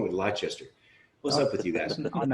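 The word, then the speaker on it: Leicester: sue hertzman's who you know why do you pronounce it that why do you why do you say lester what's wrong with lychester what's up with you guys aluminum router let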